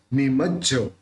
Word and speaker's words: निमज्ज: तो संसार सागर निमज्ज, देखिए यहाँ पे ज को थोड़ा जोर देके बोलना पड़ेगा, क्योंकि आधा जबी है और पूरा जबी है।